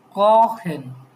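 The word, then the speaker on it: kochen: তারপরে যে কহেন, এটা উচ্চারণ কি? কহেন। এই যে ওর পরে সেহা থাকলে আমরা কি জানি? খর মতো উচ্চারণ হবে, ভাওয়েলের পরে।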